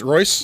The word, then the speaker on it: Royse: pronounce your last name I pronounce Royce rice it always states so but I was sure it always throws people off because it's ry se mm-hmm and everyone thinks Rolls Royce it's not guy Royce and so they get